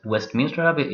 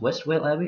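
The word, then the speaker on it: Westvale Abbey: Sorcery, double, and I see that I have what I apparently call it, Westminster Abbey. It's pronounced Westwell Abbey, as you can see.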